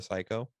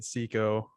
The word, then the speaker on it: CICO: that you also released, the psycho, or mhm. if I am I pronouncing that right, the psycho thing, CICO. That sounds a little cooler. I think it's more popularly said Seiko, but Seiko. Okay. it's an I, so you could say Seiko, Psycho.